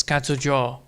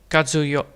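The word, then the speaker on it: 活用: So, technically it's katsu jo. Katsu jo. Katsu yo. Katsu yo. So, not jo, but yo. So, technically you say it like that.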